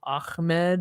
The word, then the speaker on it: Ahmed: You gotta put the phlegm in there.